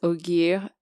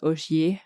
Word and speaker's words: Ogier: It's ogier, like ogre.